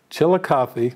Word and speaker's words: Chillicothe: Crowe P o box five five zero zero Chillicothe now I'm from Ohio so I know how to spell it but I'm gonna spell Chillicothe because it